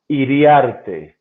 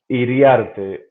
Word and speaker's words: Iriarte: So it's very the name is from Spain and pronunciation is Iriarte. It's a Oh, little. see, I did It's pretty from Spain. well. It's from Spain. Okay. It's Iriarte.